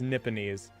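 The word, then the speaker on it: Nipponese: uh definition what does how does it pronounce nipanese oh nipanese it's nipinis another word for japanese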